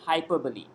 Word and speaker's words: hyperbole: used as a as a figure speech called hyperbole okay Hyp e RB or le we pronounced en bein hyperbole so then all at